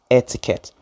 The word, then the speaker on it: etiquette: have introduced the word etiquette it sounds like the word when you look up the air and the ticket no but we spelled